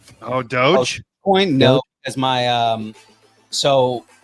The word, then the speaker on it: Doge: How do you pronounce it? Dogi? Oh, Doge.